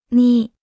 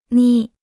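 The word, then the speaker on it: 你: repita en voz alta ni ni ni ni ni ni ni se pronuncia con el tercer tono la palabra ni es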